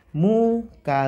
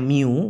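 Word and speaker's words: μ: gesekan itu rumus umumnya muka Lien gitu ya jadi gaya gesek tentu rumusnya huruf Yunani MU atau ada orang sering bilangnya Miu boleh juga Tapi aslinya huruf yang seperti UU ini bacanya mu aslinya ya muka Lien nah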